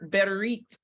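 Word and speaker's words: ברית: going to start right there is the word berit bit in the text and it's spelled like this bite bet r y t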